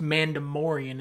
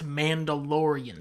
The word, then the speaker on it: Mandalorian: not dark ma mandian first off it's not pronounced mandem morian it's Mandalorian second off it's Boba Fett I don't give